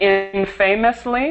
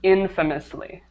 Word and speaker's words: infamously: And the other one, okay, so it looks like infamously, but it's pronounced infamously. Infamously. The stress is perfect. The stress is Okay. on the first syllable.